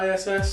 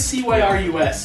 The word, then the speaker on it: Cyriss: And the new Warmachine Convergent of Cyrus or Cis or I still don't know how to say pronounce it right. I'm sorry. Was it Cyriss?